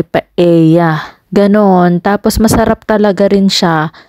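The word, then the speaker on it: paella: Spain yun ay ang paela Pero sabi nila ang pronunciation nga ay paea ganon tapos masarap talaga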